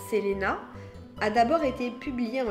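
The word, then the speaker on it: Celaena: Son premier ouvrage, Keleana, je crois qu'en réalité ça se prononce d'ailleurs Selena, a d'abord été publié en ligne alors qu'elle n'avait que 16 ans.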